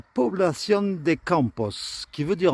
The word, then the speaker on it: Población: Comme là, on prononce población. Si jamais il n'y avait aucun accent sur le haut, la règle veut que ce soit toujours l'avant-dernière syllabe qui soit accentuée. Donc là, s'il n'y avait pas d'accent, on dirait población.